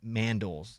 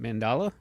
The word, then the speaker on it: mandala: It is the Tibetan Buddhist Sand Mandals I think is or what is that Mike? How do you say it? Mandala.